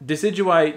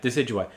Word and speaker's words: Decidueye: the uh rowlet final evolution how do you pronounce that name i don't really like i did actually decidu or something like that decidueye yeah decidueye actually i just real quick i caught one